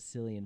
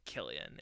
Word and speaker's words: Cillian: Killian oh yeah dude I've been pronouncing it sillion for so long so I watched the same interview you talked about um watching and he says Killian in it and so that's what I'm going with that's that's John's law